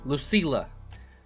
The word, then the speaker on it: Lucila: Lucila, you pronounce the L's.